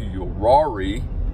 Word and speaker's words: Uwharrie: We are on our way to Uwharrie.